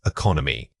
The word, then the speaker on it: economy: Don't treat all syllables equally when you practice this word. The first vowel is weak and quick. The second vowel needs to carry most of the weight and volume.